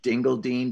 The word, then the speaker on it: Dingledine: saw that again yeah it's pronounced dingle dean but it's spelled dingledine so yes i gotta